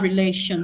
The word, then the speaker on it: relation: Relation, the stress is on the second syllable.